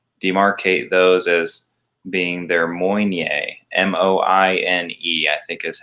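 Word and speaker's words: Moine: do is they demarcate those as being their Moynier, M-O-I-N-E, I think is how that's spelled, Moynier line.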